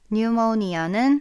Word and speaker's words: pneumonia: double모니아 뉴모니아는 피가 묵음이에요. pychology 스드는 할 때도 피가 무금이잖아요.